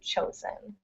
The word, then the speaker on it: chosen: in that one and the vowel doesn't change it's not a different vowel but it changes it sounds so chosen it's still in still written with an O but it's pronounced differently so chosen great oops and next